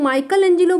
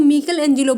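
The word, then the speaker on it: Michelangelo: अब देखिए, अब जैसे मैं माइकल एंजेलो बोल रही हूँ तो कुछ लोग माइकल एंजेलो बोलते हैं, कुछ लोग मिकल एंजेलो बोलते हैं। अब दोनों ही गलत नहीं है, दोनों ही सही है।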